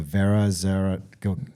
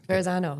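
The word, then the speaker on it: Verrazzano: What's like so we've crossed we crossed I always butcher the name the Vera go Verzano Verzano narrows bridge.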